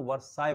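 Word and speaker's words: Versailles: French revolution के दौरान, उसको वर्साय पढ़ते हैं, जबकि लिखते हैं वर्साइलेस, बट पढ़ते हैं उसको, प्रोनाउंसिएशन है उसका वर्साय। इंग्लैंड का जो राजधानी है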